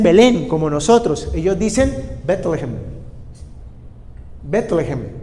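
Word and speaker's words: בית לחם: En hebreo se escribe Bet, B larga E-T, Bet Lehem. Si uno la lee de corrido sería Betlehem. Y cuando usted habla con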